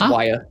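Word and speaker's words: Yahya: Is it Yaha? It's Waya. Waya?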